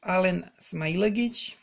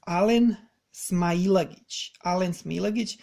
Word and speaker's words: Alen Smailagic: I'm gonna say it again because I see like no one can get this name right on all of these podcasts. All of these people pronouncing this name, they butcher him. So he's Alen Smailagic.